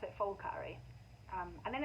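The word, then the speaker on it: Phulkari: it's was a p um but apparently they pronounce it fulkari um and then it's really interesting because now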